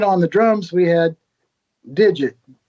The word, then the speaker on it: Digit: the drums we had digit which he pronounced his name dig it so we had the